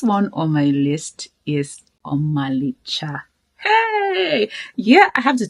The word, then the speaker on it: Omalicha: So you have to say something like Omalicha. Hey! Enene bejoro. Ha! Ne imaka. That's how to say it.